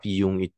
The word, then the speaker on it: Jung: Karliung kan kalau Kaljung itu urusannya bacanya Kaljung Kal Gustaf Yung Yung itu dia bilang bahwa